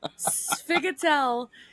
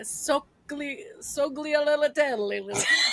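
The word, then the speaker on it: sfogliatelle: Sphygotell is like the Jersey Italian pronunciation of what it's like a sogliolitelli, right?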